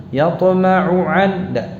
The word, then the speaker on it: يطمع أن: ثم يطمع أن أزيد Perhatikan ain dan hamzahnya diucapkan masing-masing dengan jelas. Yatma'u akhirnya ain. An berikutnya itu hamzah. Jangan tertukar atau jangan dibaca ain semua atau hamzah semua. Yatma'u an, yatma'u an.